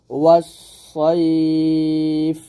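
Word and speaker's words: والصيف: আমরা এখানে যে ভুলটা করি সেটা হচ্ছে এখানে সদের জায়গায় আমরা সিন উচ্চারণ করি। তো সদের জায়গায় সিন উচ্চারণ করা যাবে না, এটা হলো সদ মোটে উচ্চারণ করতে হবে। ওয়াস সাইফ বললে এটা বড় ভুল হবে, বলতে হবে ওয়াস সাইফ এরকম একসাথে।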